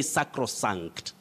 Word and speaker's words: sacrosanct: moses m you say sacrosanct sacrosanct don't say sacral you say sacrosanct with the that is the open or lower front vowel sound sacrosanct mediocre mediocrity regina